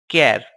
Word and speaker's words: char: our database string types character which is denoted by ch AR and pronounced as keV it is a fixed